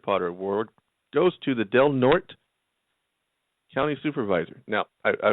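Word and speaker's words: Del Norte: this week's Mr Potter award goes to the delnort County Supervisor now I I will explain to you that that is spelled d l n o r t which should be pronounced delort right Becky will probably tell me yes but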